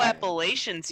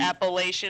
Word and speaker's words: Appalachian: I know Appalachians usually is a common one as well. but I know Instead of Appalachian, it's Appalachian. Oh, as in the person, somebody from the Appalachian Mountains.